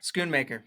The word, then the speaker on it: Schoonmaker: Did I pronounce that correct? Or is it Mocker? Schoonmaker, don't worry about it. Schoonmaker.